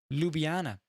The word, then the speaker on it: Ljubljana: Pronounced Ljubljana.